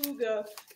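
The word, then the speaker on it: Hygge: So Huga, it looks like it says Higgy, but it's pronounced Huga.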